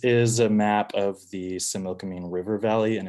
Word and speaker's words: Similkameen: And we say Similkameen. The original pronunciation is more like a GH at the end or an X.